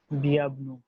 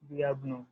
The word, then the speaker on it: bienvenue: Welcome will be delivered as bienvenue. Bienvenue.